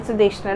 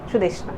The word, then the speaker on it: Sudeshna: Actually it is called Sudeshna, right? But I am Bengali, I am been calling it Sudeshna.